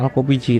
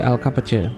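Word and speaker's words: Kapıcı: Ini bacanya bukan Al-Kopiji tapi Al-Kapace, karena di sini kata berbahasa Turki yang berarti pembuka pintu, yaitu Al-Kapace.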